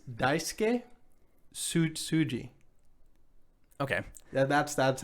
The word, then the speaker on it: Daisuke Tsuji: his name okay let me hear it it's daisuke tsuji okay that's that's how you pronounce it sure that sounds good to me